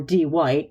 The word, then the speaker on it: Dwight: her friends, Brewster or D. White. Actually spelled Dwight, but he insisted everybody pronounce it D White cuz it's cool, standing outside her unit somehow Bluetooth bumping her with her phone.